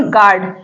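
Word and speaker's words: guard: कोई भी वाउल है उसके बीच में अगर यू आता है तो यू साइलेंट होता है ठीक है इसमें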